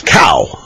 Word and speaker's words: Cao: pronunciation of Mr. CAO's name, the rookie, the guy that replaced Congressman William Jefferson, Democrat, Louisiana, is Cow.